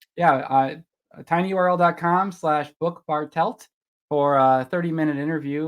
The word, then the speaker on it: Bartelt: out loud help me say it correctly bartelt bartelt see actually it's funny and I